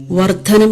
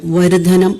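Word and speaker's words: വര്ദ്ധനം: വർദ്ധനം എന്നതിന് വരുധനം എന്നുമാണ് വേണ്ടത്.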